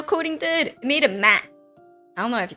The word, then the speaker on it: Matt: I thought Matt is like M-A-T-T-E, but this one it's spelled Matt, like M-A-T-T. It's actually Matt.